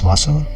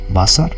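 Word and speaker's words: Wasser: important V is fogal W is Vasa w means v v vaser x opsilon Ops X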